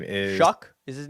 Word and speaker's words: Shough: Oh God, his name is Shuck. Is his name Shuck? It's spelled weird. Yeah, it's spelled Shough, but he's out of Louisville. Tyler Shuck, I think he pronounces it.